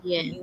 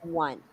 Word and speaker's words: yuan: It should be Chinese yuan. That's not yen, yuan.